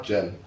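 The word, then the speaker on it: Djenné: Jen. Yeah, silent D, right? yeah. Yeah, because I used to say It's Jen. named after the town in Mali, but it's got an apostrophe on the end, so Jene, but without the apostrophe, it's just Jen.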